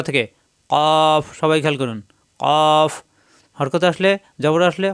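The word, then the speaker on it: ك: কৈকু এরকম উচ্চারণ হবে পাঁচ নাম্বার মাখরাজ জিহ্বার গোড়া থেকে একটু আগে বাড়িয়ে শক্তকারে উচ্চারিত হয় স্বাভাবিক উচ্চারণ হবে এটা কাফ এটা কাফ জিহ্বার গোড়া থেকে একটু আগে বাড়িয়ে কাফ জবর আসলে কা জের আসলে কি পেশ আসলে কু কা কি কু আর এখানে কই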